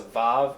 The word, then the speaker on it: vav: doing this, we're going to call this a vav, and it makes the v sound, which is the same sound as a bait without a dagesh.